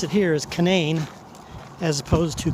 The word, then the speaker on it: Canaan: And then when I get over to Canaan Valley State Park, that's how they pronounce it here, is Canaan, as opposed to Canaan.